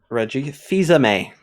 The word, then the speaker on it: Reggie Fils-Aimé: Reggie Fils-Aimé is how you pronounce that.